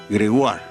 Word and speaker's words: Gregoire: digo me bautizó porque mi apellido auténtico es Gregoire y la pronunciación es Gregoire, pues es un apellido francés.